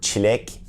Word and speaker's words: çilek: It is pronounced Ç in Turkish. It's the ç as in chair. For example, the word çilek is strawberry in Turkish.